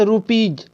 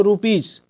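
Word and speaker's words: rupees: ठीक है, उसके बाद रुपीज, कोई बोलते हैं इसको रुपीस, कोई बोलता है रुपीस, तो जो गलत है।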